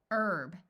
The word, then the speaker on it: herb: say ow hour hourly herb note that in the US the H is silent in this word but in some countries